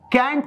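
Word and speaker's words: can't: इसी कैन नॉट को हम शॉर्ट में कैंट और कांट बोल सकते हैं। ब्रिटिश में कांट बोलते हैं, अमेरिकन में कैंट बोलते हैं। तो ध्यान दीजिएगा, दोनों प्रोनाउंसिएशन सही है।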